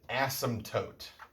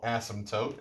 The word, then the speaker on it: asymptote: here is called an asymptote i know funny word asym asymptote kind of has like a silent p in an asymptote um an asymptote is